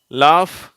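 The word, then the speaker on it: laugh: உச்சரிப்பு வருது பார்க்கலாம் இது கோஸ்ட் சரியா இதுல க்ன்ற உச்சரிப்பு வருது லாப் காஃப் ரஃப் தோ இந்த வார்த்தை என்ன தோ அடுத்தது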